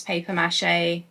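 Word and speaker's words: papier-mâché: Also, I do want to acknowledge that I pronounce paper mache like the English word of paper rather than saying papier mache.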